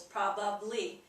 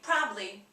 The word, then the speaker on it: probably: move on to probably again three syllables probably people like to say probably they forget the ab in the middle so let's take a